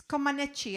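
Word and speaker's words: Comăneci: manichi is yes oh peter says yes it's comaneci i don't know if you see pronunciation yes that's exactly right so she she is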